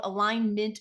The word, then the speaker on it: Alignmint: the company is called align mint growth strategies and I say it that way because it's spelled align m i NT and the reason for